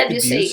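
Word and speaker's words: Debussy: Yeah, I I've always been like Eric Sati and uh Deucey. Is it pronounced debutc?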